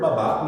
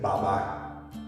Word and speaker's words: babá: baba literally the word Baba means father a lot of non-spanish speakers a lot of black Americans will say Baba the word is Baba emphasis on the second a not the first Baba mean it's just